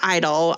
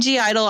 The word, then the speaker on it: (G)I-DLE: get into idol um stylized uh parentheses g idol g is silent if i start saying g idle i'm not saying because i'm like i'm trying to be wrong but it's that's what it looks like so apologies and i'm